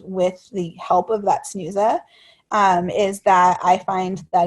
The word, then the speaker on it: Snuza: I bought a thing called a Snooza Hero, and that's spelled SNUZA, and it's an auto rise monitor